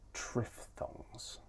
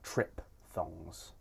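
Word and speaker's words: triphthong: These are diff thongs and tripff thongs. You might also hear these pronounced as dip thongs and trip thongs. And both ways of pronouncing it are fine.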